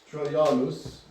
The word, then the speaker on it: Trajanus: Trajanus. Trianus. The Js are not pronounced in Latin.